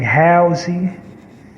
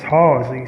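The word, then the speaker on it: Hallzie: do a take to the announcer mispronounced my name they're saying housing and my name is halsey so i don't know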